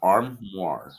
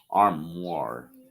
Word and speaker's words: armoire: it's a slow word arm war right maybe are you saying i'm slow no no that's actually uh the way it's pronounced and yeah that's french well you said it